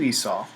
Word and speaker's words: Esau: Now, when Isaac tells this to Esau, Isaac's wife Rebekah overhears this and tells Jacob,